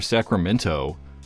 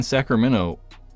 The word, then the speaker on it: Sacramento: They like don't pronounce the T in the end, but we're like, I'm from Sacramento.